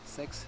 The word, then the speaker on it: Seix: I went to this little village called Seix, spelled S-E-I-X, but I heard people in town saying Sex, so apparently it's how it's pronounced.